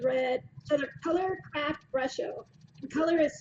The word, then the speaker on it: Brusho: So they're Color Craft Brusho. And color is spelled COLOUR, craft, one word, brusho. It's brush with an O at the end.